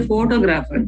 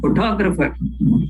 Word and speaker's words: photographer: photograph we call but when we say photographer we don't say photographer we say photographer there the the stress is on the second syllable when we say photographically